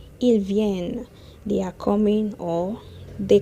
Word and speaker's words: viennent: Remember, don't pronounce the NT. Ils viennent.